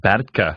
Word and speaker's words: Bertke: Some folks pronounce it Bertke. It's actually pronounced Bertke, I think, is the correct German pronunciation.